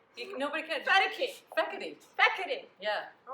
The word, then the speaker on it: Fekete: And I am here with Sharon Fedeke. Or Fekete. And nobody can say my name. I've been saying it wrong the whole time.